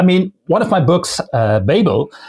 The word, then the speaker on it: Babel: I mean, one of my books, Babel, many people call it Babel, even though there's only one B in the middle.